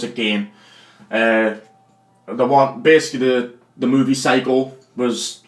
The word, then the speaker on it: Gein: I pronounce it Gein.